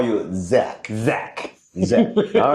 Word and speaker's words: Zach: But I think most of the Koreans will actually call you Jack with a J. Yes. But what is the correct pronunciation of your name then? Correct pronunciation is Zach. Zach. Yes. Not Jack.